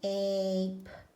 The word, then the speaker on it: ape: So ape, ape. We're not finished yet. We need to label the syllable pattern.